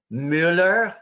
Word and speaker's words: Müller: We've got Nicole Müller. I can pronounce it in the German way because yeah, very good.